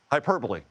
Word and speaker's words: hyperbole: Hyperbole. Hyperbole. That's how you say it.